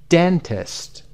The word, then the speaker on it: dentist: Number two, dentist. قسمت den.